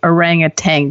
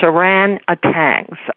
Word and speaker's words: orangutan: is just playfulness but people always mispronounce and say orang a Tang does that just put the hair up on your arm I have no I had so much trouble learning to pronounce it anyway it's without the G it's a ran a tangs I always pronounce it